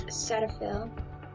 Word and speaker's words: Cetaphil: Which is this Cetaphil.